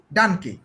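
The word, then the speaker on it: Danke: Day, dung day হচ্ছে ডানকে, ডানকে, ডাঙ্কে হ্যাঁ ডানকে। আপনি কিন্তু প্রথমেই বলে ফেলছেন ডানক, দেখছেন আমরা কত মিনিট, আমরা আধা ঘন্টা হয় নাই শুরু করছি, এখনই বলে ফেলছেন ডান, এটা হবে ডানকে।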